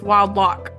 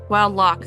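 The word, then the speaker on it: Wildlough: It's very important to me that you pronounce her name right. Okay. What is it, Caitlyn? It's Wild Lock. Wild Lock.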